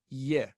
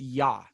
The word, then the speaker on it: Yah: And there it's Iyah, Yahweh, or Yahbeh, sometimes it's pronounced. It's not Yeh. So in other words, that's how we know it's pronounced Yah.